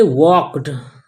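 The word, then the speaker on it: walked: दे वॉक्ड, वॉक miss होता है चलना, और एल यहाँ पर साइलेंट है और एल साइलेंट होता है, कई जगहों पर एल साइलेंट होता है और एल साइलेंट होता है एम डी के एफ, एम डी के एफ से पहले अगर एल आता है तो वहाँ पर एल साइलेंट हो जाता है।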